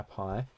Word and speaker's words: pi: but what's pi well if you're unsure what PI is PI is a symbol that represents a